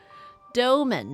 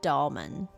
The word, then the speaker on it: Doman: I've been saying it wrong, of course. Doman, not Dolman.